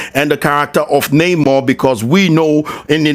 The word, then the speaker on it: Namor: Victoria Alonso clarifies Namor's name in the MCU is pronounced Namor and derives from El Niño Sin Amor, which translates to the boy without love, a totally ridiculous